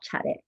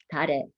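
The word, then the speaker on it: 차례: These ancestral tea offerings, ceremonies, were called chare, or often pronounced nowadays tare.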